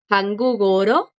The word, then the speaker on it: 한국어로: 한국어로, un poquito más de acento en el ro.